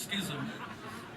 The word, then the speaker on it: schism: I've only just learned how to pronounce that word. I've never known until I approached a friend of mine who is an ex-secretary of the Archbishop of Canterbury, and I figured if anyone should know how to pronounce schism, it should be him. So anyway, it's schism, Philip, schism.